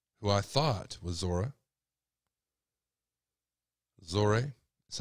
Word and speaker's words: Zohreh: of the lady who I thought was Zora zory that's how you pronounce it um I was threatened to take